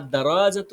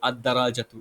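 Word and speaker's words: الدراجة: একটি সাইকেলকে বোঝাচ্ছেন আর আদারজাতু মানে হচ্ছে কি সাইকেলটি এখানে এখানে লামের উচ্চারণ আসছে না কিসের জন্য এটা হচ্ছে ওই যে হরুফে শামসের মধ্যে পড়ছে আর কলামু আল কলামু আলিফ লামের উচ্চারণ আসছে আদারজাতু এখানে আলিফ লামের উচ্চারণ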